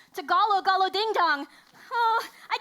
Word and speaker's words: Tagalog: Honey, it's pronounced toboggan. Okay, you're both wrong. It's pronounced Tagalog Galo Ding Dong.